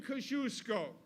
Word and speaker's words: Kosciuszko: But now that I know better, the name Kosciuszko is an honor to the Polish American people and the Polish community, and it should be. And the name Kosciuszko says something else that is very timely today,